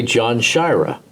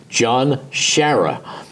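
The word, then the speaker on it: John Sciarra: about his quarterback at UCLA he will say John Shira and you remember John Shire he came to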